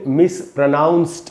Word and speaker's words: mispronounced: उसका नाम है 18 मिस प्रोनाउंस्ड वर्ड्स। दोस्तों इसको कैसे पढ़ेंगे? मिस प्रोनाउंस्ड, इसको मिस प्रोनाउंस्ड नहीं पढ़ना है। और एंड में जो डी है उसको ट पढ़ेंगे, ट, मिस प्रोनाउंस्ड।